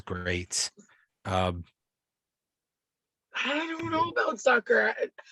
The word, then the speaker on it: Zucker: I don't know about Zucker. I'm gonna call him Zucker because he sounds like a sucker, and he rhymes with sucker, and I like suckers, and it also rhymes with my favorite cuss word.